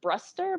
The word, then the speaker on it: Brewster: the Logalog, who's named Tugga Brewster, which the very first time I read that, it just made me think of Punky Brewster. There's your nice old reference for the day. It's actually pronounced Bruster, but I like that